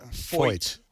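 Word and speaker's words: Feucht: Foyt. Foyt. Like AJ.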